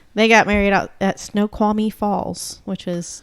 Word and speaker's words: Snoqualmie: Snoqualmie.